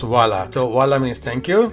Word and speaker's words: Hvala: Hvala, but it's pronounced Vala.